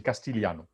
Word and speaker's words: Castigliano: ويكتب كاستيغليانو mais الجي ما ينطقش c'est de l'italien, là il m'entroche. C'est Castigliano.